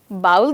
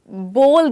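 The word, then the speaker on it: bowl: नो, मुझे please एक extra बोल दीजिए। जैसे हम कहते हैं ना बोल, कुछ बोल, वो वाला बोल। एब्सोल्युटली, BOL, बोल। तो इसकी प्रोनाउंसिएशन बाउल नहीं है पर बोल है।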